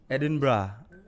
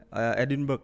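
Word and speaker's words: Edinburgh: gua potong dikit ya kotanya tuh apa sih? Edinbrah. Einburg.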